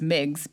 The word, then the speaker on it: MIGs: We have forever been known as MIGs because it's just so many syllables.